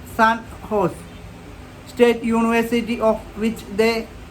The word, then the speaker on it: San Jose: in the U.S recently the San Jose pronounced Sun horse State University of which